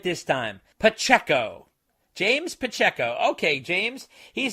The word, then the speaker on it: Pacheco: from James, and he says, I pronounced his name wrong last time, so I'm going to do it right this time. Pacheco. James Pacheco.